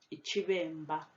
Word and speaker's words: iciBemba: So in the word iciBemba, the first B is pronounced V. The second one is a harder B sound, so it's mb. So iciBemba.